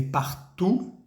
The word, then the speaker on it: partout: Ese partout que se escribe partout y se lee partout, la OU se lee U, partout, pues significa por todos lados.